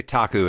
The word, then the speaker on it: Taku: So you have the three tribes which are Taku. Am I pronouncing that right? I believe so. I would say Taku as well.